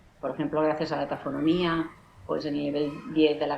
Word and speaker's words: tafonomía: isabel rusa y yo nos pregunta cómo se pronuncia tafonomía precisamente pues tafonomía es decir que está fox viene de tazos